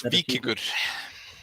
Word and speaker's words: Vikinger: Is it Vikinger? Is that how you pronounce the? Good enough. It's Vikinger.